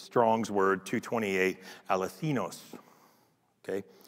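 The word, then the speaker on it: ἀληθινός: The second time it's used in conjunction with the word light, it's Strong's word 228, aletheinos. Okay. Aletheinos, accent on the last syllable.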